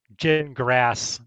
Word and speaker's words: Gingras: I mean, I hear snakes every time that uh Jin grass the you know, uh speaks whether it's it's pronounced gin like you drink and grass like you mow.